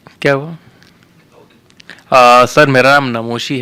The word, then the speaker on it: नमोशी: मेरा नाम का प्रोनाउंसिएशन मुझे ऐसा लग रहा है कि वो मेरे साथ मुझे लेके चलना चाहिए। इट इज़ नमोशी, नॉट नमोशी।